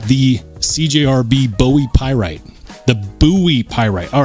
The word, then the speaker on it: Bowie: it's named after him and his name was pronounced buoy not Bowie so some people get really upset if you